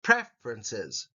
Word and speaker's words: preferences: it's one syllable preferences the emphasis is on the first syllable preferences Ambitions second syllable emphasis